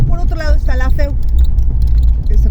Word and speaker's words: FEU: Luego por otro lado está la feu, se pronuncia así.